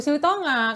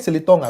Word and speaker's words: Silitonga: Baru Silitonga. Kan tadi udah perkenalan Silitonga. Iya. Cara bacanya Silitonga, bukan Siliton enggak? Silitonga. Sili.